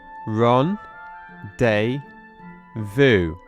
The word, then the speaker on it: rendezvous: sentence but firstly let's try our best to pronounce Ronde Vu Ron day V Vu excellent and let's try again Ron day Vu fantastic so let's take a look at how